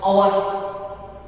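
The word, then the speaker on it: hour: For example, our. Can you know that? But here H is silent.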